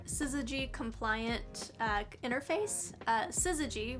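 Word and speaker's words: SYZYGY: compliant uh interface uh siy which I think is the right way to pronounce that acronym It's s y zygy it's a high-speed IO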